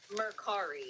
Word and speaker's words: Mercari: Because I don't know how to pronounce it. Mercari.